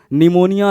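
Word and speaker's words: pneumonia: Mycoplasma, PPLO, pleuro निमोनिया like organism. निमोनिया start from P, P silent रहता है, तो PPLO, pleuro निमोनिया like organism, mycoplasma.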